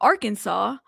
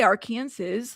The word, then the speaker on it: Arkansas: It's not like you know um Arkansas. I I don't say our Kansas like, but I've heard people say it like that.